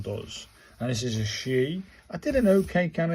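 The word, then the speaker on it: し: Number two uh from last week was she as in pronounced in the she as in sheet.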